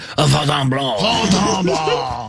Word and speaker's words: Fontainebleau: Fontainebleau.